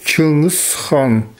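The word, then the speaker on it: Чыҥыс Хаан: Le nom de Gengis Khan se prononce en yakoute comme Chingis Khan.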